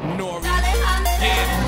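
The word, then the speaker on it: N.O.R.E.: Is N-O-R-E, that's pronounced Nori.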